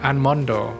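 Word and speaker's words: アーモンド: of the education but if you don't pronounce them like in a japanese way they might have trouble let's say for milk you have to say miruku for example or anmon you have to say an mondo stuff like that otherwise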